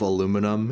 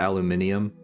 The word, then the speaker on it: aluminum: Get that second eye out of there.